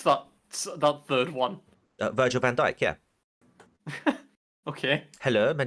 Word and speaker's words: Virgil van Dijk: or D Mohammed Salah is that how you pronounce that that third one Virgil Van Dyke yeah okay hello my name is Sergeant Van